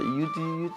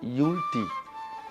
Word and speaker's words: Youlty: Some people doesn't know how to pronounce it. They say, Youlty. I say, Youlty.